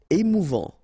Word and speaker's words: émouvant: Émouvant. Final T not pronounced. A and together. En.